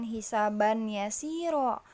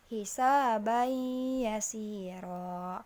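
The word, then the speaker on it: حِسَابًا يَسِيرًا: Nah, jadi dibacanya bukan hisaban yasiro, tapi hisabai yasiro.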